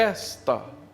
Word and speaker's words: esta: Aqui a pronúncia é esta, não é uma oxítona como aqui.